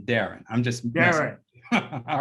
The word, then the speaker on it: Deran: to brother and dr duran whitney thank you john thank you so much for that introduction the only correction that i'll have is uh the pronunciation of my name is darren and everybody messes it